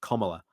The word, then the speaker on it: Kamala: how you pronounce the name, and it was like, oh, you've got to pronounce it like comma, like Kamala.